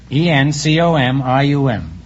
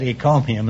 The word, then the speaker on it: encomium: E-N-C-O-M-I-U-M.